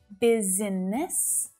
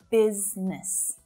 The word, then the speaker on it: business: Now, it really does look like there should be three syllables there, right? But it's not. It's not business, but business, business.